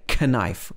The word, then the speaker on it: knife: we say half also before n k is often silent like in no knife we're going to say knife should be knife knee and not as